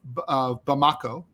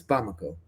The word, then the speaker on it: Bamako: There's a fuel blockade on the capital city of Bamako. Is that the right way to pronounce it? I think it's Bamako.